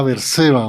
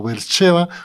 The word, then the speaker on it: Beersheba: en una ciudad llamada Berseba o Beersheba, como se pronuncia el hebreo.